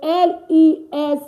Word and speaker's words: les: Okay, L-E-S, le.